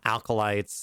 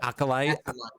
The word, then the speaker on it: acolyte: there are certainly uh alkalites and whatnot that or whatever the hell the you say that word because i always mispronounce it um but what there's only one l acolyte i've heard that there's